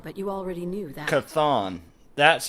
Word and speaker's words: Chthon: Chthon.